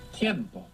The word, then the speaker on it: tiempo: Now, time in Spanish is tiempo. Tiempo. You see the difference between tempo Tiempo. and tiempo, other than the Spanish pronunciation, is that the E has split into IE.